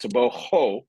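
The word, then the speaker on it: Tebogo: learned that this week his last name is pronounced toboo not too but but but with toboo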